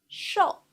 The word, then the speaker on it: 瘦: 瘦 sh o with fourth tongue, 哦，sh o 瘦，sh o 瘦。Please repeat.